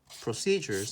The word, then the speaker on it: procedures: correct procedures procede juris procedures is pronounced pro Cee'd Jers procedures procedures are just